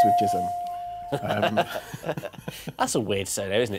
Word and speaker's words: Chisholm: Rhymes with Chisholm. That's a weird surname, isn't it? Chisholm rhymes with Chisholm.